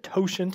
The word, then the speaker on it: totient: hard to pronounce Euler is the mathematician the totient is how you pronounce that word and then the the Greek